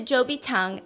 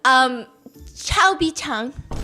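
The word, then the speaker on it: 周笔畅: Zhou Bichang and says, Chao Bichang. What? How do you say ugly? Chobi Chang. Yeah, she goes, so Cho Bi-chang, tell me about what your dream is. So Cho apparently in Mandarin means ugly.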